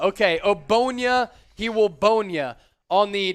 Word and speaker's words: Ogbonnia: Ogbonnia. I knew the G was silent. The G is silent. Okay, Ogbonnia.